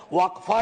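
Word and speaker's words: वक़्फ़: और अलग अलग लोग इसका प्रोनाउंसिएशन अलग करते हैं, कोई वक्फ बोलता है, कोई वकफ बोलता है।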